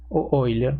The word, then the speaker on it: Euler: de euler lagrange de la ecuación de euler oilers se pronuncian raras eso quiere decir que si tenemos